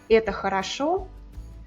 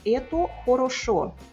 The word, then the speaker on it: это хорошо: Por exemplo, a frase «это хорошо», a pronúncia natural é com muitos As, «это хорошо», pode até falar ela com todos os, «это хорошо».